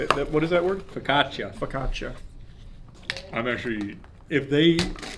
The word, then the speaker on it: focaccia: This time it's the focaccia. That's not how you say it. What is that word? Focaccia.